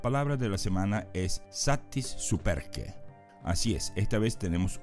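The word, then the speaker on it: satis superque: esta semana la palabra de la semana es satis superk Así es esta vez tenemos una frase de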